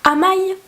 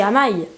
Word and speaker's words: Amaï: Donc, vous vous souvenez certainement qu'à un moment, Amaï, ça s'écrit A-M-Y. Donc c'est Amaï, parce que Y c'est Aïe.